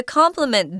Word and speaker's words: complement: on they're complimenting you it's pronounced the same way guys but notice it's spelled differently it's got an e instead of an I in the middle of it to complement this compliment does not